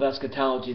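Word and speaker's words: eschatology: I'll spell it. E S C H A T O L O G Y. Esquetology.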